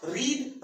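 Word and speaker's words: read: जैसी होती है, लेकिन जो प्रोनाउंसिएशन होता है उसका वो चेंज हो जाता है। तो हमें बोलना होगा रीड, रेड, रेड।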